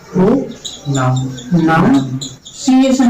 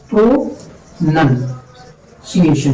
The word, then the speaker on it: pronunciation: हाँ, होता क्या है, प्रो नन सीएशन होता है, नन होता है नन, प्रो नाउन नहीं होता है।